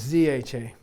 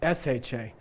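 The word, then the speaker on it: ཞ: But it doesn't mean you pronounce this as ZH. And everyone gets it wrong. No one understands that. Okay? They're both sha. They're both exactly the same. One's high tone, one's low tone. Okay, so don't go around saying zha. Okay, that's a transcription, it's not a pronunciation.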